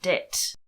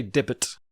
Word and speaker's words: debt: Even today, somebody's talking about debt. And they didn't say debt. Did they say debit? They said debit, which is quite hard to say, and it sounds like debit.